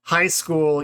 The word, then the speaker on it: high school: about this high school even though it's spelled as two words is only one word right we had that little test like it's not a very high school right it's a high school so the stress shift the vary doesn't